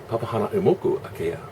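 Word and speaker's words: Papahānaumokuākea: Papa Hana U Moku Akea.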